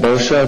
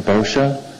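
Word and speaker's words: Boccia: name for the record yeah bosha the pronunciation boscia d-a-n-b-o-c-c-i-a thank you mr bosha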